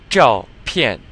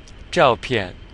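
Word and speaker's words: 照片: Alright, next we have 照片. 照片. So this ZH is just like in 中国, so you're curling your tongue.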